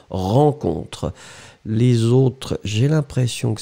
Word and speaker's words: rencontre: R-E-N, hein, comme vous avez vu, rencontre. Irène, c'est pareil. Hein. Ran, rencontre.